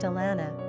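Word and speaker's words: a leanbh: Secondly, Alana is thought to come from an old Gaelic term of endearment Alimb, pronounced Alana, which means O child.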